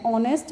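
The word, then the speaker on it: honest: and words beginning with a silent H, कुछ ऐसे words जहाँ पे एच साइलेंट होता है, एज यहाँ पे क्या है, एन ऑनेस्ट मैन, देखिए एच से स्टार्ट हो रहा है, लेकिन यहाँ एच क्या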